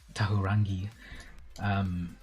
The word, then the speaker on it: Tahurangi: happy to be corrected, Tahurangi, it's about, fully pronouncing each of the vowels.